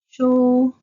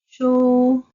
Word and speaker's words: 書: So they both have the same pronunciation of shi, wu, shu. You can hear the sound of shu without any ups and downs or transitions.